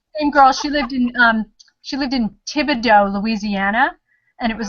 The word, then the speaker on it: Thibodaux: Not how it's spelled. Everybody calls it Thule. Julie, Yeah. yeah. Same girl. She lived in Thibodaux, Louisiana, and it was like yeah. Thibadaux.